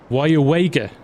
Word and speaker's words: Weyauwega: um can you hear can we hear you pronounce this town yes it's why wager trying to get it the right way around